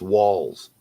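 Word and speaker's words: Walz: your running mate yes is it waltz or walls it's walls walls yeah my Sugar Walls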